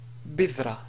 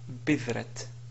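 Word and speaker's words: بدرة: sur la ta, on va dire bidra et non pas bidrat. Donc, cette écriture est fausse parce que ici il s'agit de ta marbuta qui, si on veut s'arrêter sur cette ta marbuta, on prononce bidra au lieu de bidratun ou bidrat. Bidrat, alors là, vraiment, c'est pas correct. Bidratun à la limite, mais si on voulait appliquer les règles de l'arrêt sur un mot dans la langue arabe, alors ça sera bidra.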